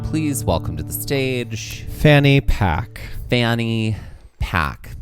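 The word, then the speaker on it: Fanny Paque: Ladies and gentlemen, please welcome to the stage Fanny Pack. Fanny Pack. Pack is spelled P-A-Q-U-E.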